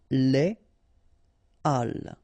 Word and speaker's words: les halles: So in that case, you shouldn't make the liaison, so you shouldn't say les halles, but you should say les halles.